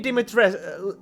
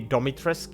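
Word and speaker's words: Dimitrescu: instant gory yeah the lady dimitr or well how it's supposed to pronoun be pronounced like lady domitrisk yes like lady domitris like that's the only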